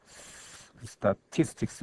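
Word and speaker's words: statistics: 소위 스트레스가 붙어 있습니다 강세 당 대표인 되겠습니까 쓰다 t 스틱스 라고 이렇게 발음이 됩니다 그 쓰임새가 이 단순 약 복수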